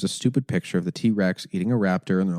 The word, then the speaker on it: TRX: everyone's like can't pronounced T-Rex no I'm it's pronounced T-Rex oh I'm so stupid I didn't know that